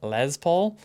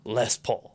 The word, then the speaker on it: Les Paul: Uh, I'm no doubt people will be very angry because we mispronounce it because we call it le Paul. Um, and it's less Paul.